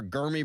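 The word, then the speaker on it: Germie: But the Steelers today are set to host Alabama receiver Gurmy Bernard. I believe it's a hard G, not a soft G.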